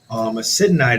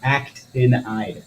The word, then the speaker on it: actinide: Acidanide is also You say it wrong all the time. Actinide. actinide. Yeah, It's okay.